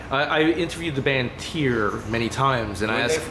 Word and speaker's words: Tyr: I asked how do you pronounce Tyr in your language, and they said something that sounds like Toj.